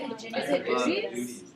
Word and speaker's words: Udi's: Is it I think that's what not it is, Udi's, though, but 'cause Udi's Udi's is is same. They I really think did, that- how do you spell that? UDIS. Oh yes.